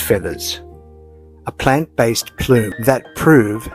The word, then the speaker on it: FEVVERS: Then came FEVVERS, spelled FEVVERS, but pronounced feathers, a plant-based plume that prove sustainability can still feel and look just like fantasy.